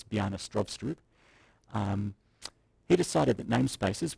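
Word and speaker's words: Stroustrup: C++ um B Str which is the correct pronunciation of the guy who invented the language it's not Bean strup as you might think it's B strob um he decided that namespaces would be a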